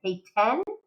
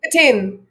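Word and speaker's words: Petén: somebody correct my pronunciation, Payten? What's the pronunciation? It's Patin. Patin? Say it again. Patin.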